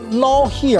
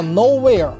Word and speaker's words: Nowhere: 是 Babe 成型的最初期 Nowhere 年代。 Nowhere 好多人在那儿还说什么 Not Here，这胡说八道，人叫 Nowhere，人家也没有说要把